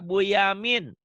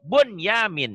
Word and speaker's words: Bunyamin: Saleh mau ketemu Pak Bu Yamin Bu Yamin kenapa kok bacanya buyamin kan itu nun mati ketemu ya idgam Iya idgham tapi tidak dibaca idgam jadi Idhar Idhar mutlak jadi Bunyamin itu kan sama nah yang pertama